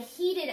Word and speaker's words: heated: the same verb I heated up my food so we learned if a word ends with D or te d makes a new syllable does this end with